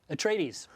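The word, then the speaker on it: Atreides: the in the Herbert books you know the pronunciation right so uh house say it again hekinan no Tres at trades at trades they're the good guys so you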